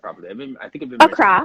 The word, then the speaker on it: Accra: I think I've been Accra. mispronouncing. Accra, Accra.